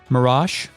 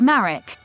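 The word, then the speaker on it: Marach: Mirage. Mirage. M-A-R-A-C-H. Initializing fake net. It's pronounced Marek.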